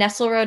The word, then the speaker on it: Nestlerode: with a Z, and Nestlerode is spelled like Nestle chocolate, and then R-O-D-E.